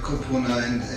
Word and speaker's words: Kupuna: treating our Kupuna and do I say it right? Kupuna, yeah, Kupuna. Right? Yeah. Okay. Close enough. Yeah. Close enough. Yes, Kupuna, right? I like how it sounds with your accent. It's actually, Kupuna. Very good.